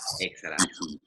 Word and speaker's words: exhalar: Remember that with inhalamos and exhalamos, we don't pronounce the H. So it's inhalar, exhalar.